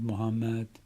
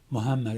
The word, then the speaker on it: Muhammad: our brothers and sisters Muhammad and that's the T anytime you see that sign over a letter that letter is pronounced twice so it's muham and